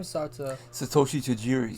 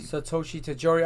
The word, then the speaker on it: Satoshi Tajiri: Satoshi Tajiri. Satoshi Tajiri.